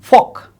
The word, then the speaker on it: folk: outside Bangladesh in India's West Bengal some eminent folk singers for you see the pronunciation folk that is silent of L folk singers made